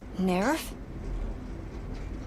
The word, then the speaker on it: NERV: special operation known as NERV is headquartered. But wait, even the pronunciation of that might be NERV, according to some dubs and some fans. Nerve?